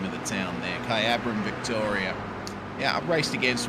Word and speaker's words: Kyabram: And um that that would be um I don't want to mispronounce that. Jay, can you tell me? Kyabram. Okay, that's the uh name of the town there. Kyabram, Victoria.